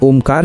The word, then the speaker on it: ओम: सांस छोड़ते हुए अ उ म का क्रम शुरू करें। इसका अनुपात 1:12 रखें। अंत में म की गूंज को अपने दिमाग में महसूस करें। धीमे और लंबे स्वर में ओम का उच्चारण करें तथा उस ध्वनि के